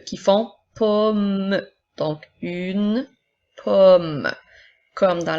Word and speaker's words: pomme: Ensuite, nous avons une pomme. Alors, encore une fois, les E à la fin des mots ne seront pas prononcés pour faire une pomme, mais bien une pomme.